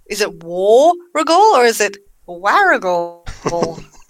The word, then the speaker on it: Warragul: So it's Warragul. Warragul. Warragul. Warragul. No chance of mispronouncing the launch this week in New South Wales, in the town of Woy Woy.